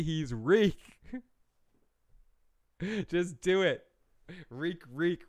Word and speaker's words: Reek: Reek rhymes with freak.